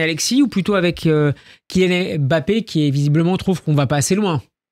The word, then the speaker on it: Mbappé: Mbappé sur le il faut pas prononcer le M sur le réseau X.